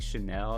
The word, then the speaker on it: Chanel: yellow is chanel chanel i think chanel is how you actually pronounce it which is just